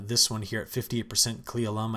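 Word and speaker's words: Cle Elum: one here at 58 klee alum i think is how you say that but others are still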